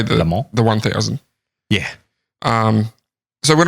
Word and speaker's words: Le Mans: Le Mans. Le Mans. Le Mans. Like lemon, but say it like you're an idiot. Le Mans. Le Mans. Le Mans. Okay. You don't pronounce the S.